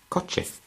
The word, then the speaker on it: coche: sounding as a th, the word coche has got this combination. So rather than saying coche, we say coche, because the combination of C and H obviously will give us the sounding of ch.